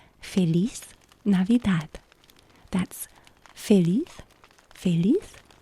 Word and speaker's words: Feliz Navidad: But the way that I know how to pronounce this phrase is Feliz Navidad. That's Feliz, Feliz, Feliz Navidad.